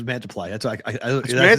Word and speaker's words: Mantiply: Get to the most meaningful baseball games of the year, and you got Sanchez pitching against Mantiply, which looks like Multiply. That's what I said. It's Mantiply.